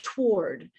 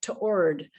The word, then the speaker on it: toward: word that way too somebody said well i pronounce it like toward um some the person from minnesota was it's like almost like to ord you know there's there's like a little doubling there in their analysis of it and there was a question is it one syllable or is it two syllables people had different